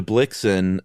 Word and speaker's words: Blixen: Uh so, Blixem changed to Blixen first, I think, to rhyme with Vixen.